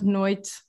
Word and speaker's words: noite: again is there and the e at the end of noit is kind of gone yeah you can